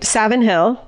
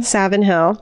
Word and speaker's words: Savin Hill: Boston and 7th near South Boston say in Savin Hill spell it sa VI n o Savin saving our Savin Savin Hill or a third option that we could never